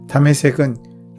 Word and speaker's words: 다메섹: 다메섹은 지금의 시리아의 수도인 다마스커스의 히브리식 발음입니다.